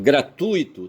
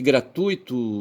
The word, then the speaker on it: gratuito: Mas você você tem é gra primeira sílaba, tui segunda sílaba, to terceira sílaba, tá certo? Então veja que na segunda sílaba tu, certo? Você tem o u ali dominando, você recebendo o acento tônico, certo?